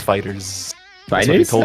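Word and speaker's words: FighterZ: Fighter Z. No. It's pronounced as Fighters.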